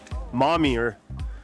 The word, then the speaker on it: Momyer: say this place I always say this wrong mommy er there we go we're at the mommy er trailhead right now yeah Matt and I we're